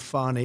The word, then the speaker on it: Fani: She goes by the name of Fani, even though it's F-A-N-I. She wants to pronounce Fani.